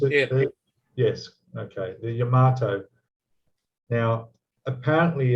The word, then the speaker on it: Yamato: I've been hearing about in the modelling community about the new 200 scale, and now it's Yamato. Is that how I pronounce it? Yeah. Yes. Okay. The Yamato.